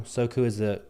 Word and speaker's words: Soku: So Soku, for people that are new, Soku is the Japanese pronunciation of the translation of the word immediately.